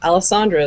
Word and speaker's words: Alessandra: Alessandra is generally accepted pronunciation, but most people just call me.